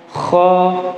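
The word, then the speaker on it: خ: Kemudian makhraj yang berikutnya ada di tenggorokan bagian atas, yaitu kho dan gho. Gho. Pertama kita akan praktekkan huruf kho terlebih dahulu. Pengucapan huruf kho itu ada getarannya, Pak.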